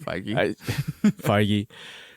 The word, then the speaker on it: Feige: to kevin feige yeah you said it right fargy like he's like kevin fiji like the water kevin fiji we're gonna